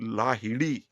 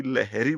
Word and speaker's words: लाहिड़ी: ऐसे ही महान संगीतकार बप्पी लाहिड़ी है वो। हम उनको अंग्रेजी की वजह से बप्पी लहरी बोलते हैं। लहरी कोई गोत्र ही नहीं होता। वो लाहिड़ी है।